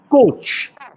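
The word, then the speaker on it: cwtch: And that word is coach, which I think is spelled C-W-T-C-H.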